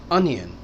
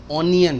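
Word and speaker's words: onion: अनियन, ऑनियन नहीं।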